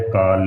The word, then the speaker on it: काल: इस शब्द को, जो काल का शब्द है ना, इसको मुंह को थोड़ा आराम से खोल कर बोलना है, काल का।